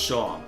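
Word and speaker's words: Seam: The name's. Pronounced Shaw.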